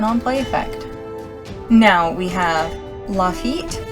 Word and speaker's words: Lafitte: Now we have Lafitte, whose name I learned is pronounced Rafit.